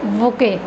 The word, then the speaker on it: bouquet: पता नहीं होता कि बुके होता क्या है। अब देखो बुके इसका प्रोनाउंसिएशन है और स्पेलिंग है BOUQUET, बुके।